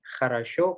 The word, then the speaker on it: хорошо: Nah, tadi tuh Ratu tuh nanya, ini хорошо kenapa O-nya bisa dibaca A, kenapa enggak O semuanya dibaca jadi хорошо, atau enggak tadi spasiba kan contohnya.